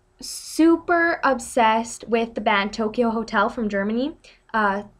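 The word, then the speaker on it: Tokio Hotel: my friend was super obsessed with the band Tokyo Hotel from Germany uh it's spelled t o k i o hotel and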